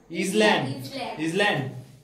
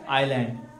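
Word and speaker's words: island: এটা ইংল্যান্ড না, ইসল্যান্ড। ইসল্যান্ড নয়, এটা আইল্যান্ড। উচ্চারণ কি হয়? আইল্যান্ড।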